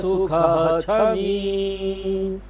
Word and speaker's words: सुखः क्षमी: यहाँ पर संस्कृत में उच्चारण का एक नियम है कि जब भी ख के बाद छ आएगा और उसके बीच में विसर्ग है, दो बिंदी है, तो हम उस विसर्ग को पूरा पढ़ेंगे।